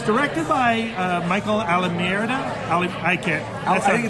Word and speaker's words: Almereyda: It's directed by Michael Almereyda. I think it's Almereyda. Thank you, Almereyda.